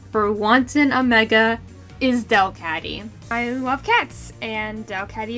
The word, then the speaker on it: Delcatty: Delcatty can learn Heal Bell, and Del in Delcatty rhymes with bell, so just go with it.